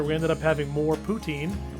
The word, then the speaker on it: poutine: ended up having more poutine or as we learned while we were in the restaurant it's actually pronounced putzin and that's how the i guess that's how they pronounce it in canada so um this was